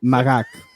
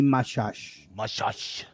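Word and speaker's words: Machach: It's Makak based on the laws of Italian language. In French, it might be Mashash. Mashash. Or in wherever he's from. Yeah. Mashash de Boeuf. Zinedine Mashash Makak.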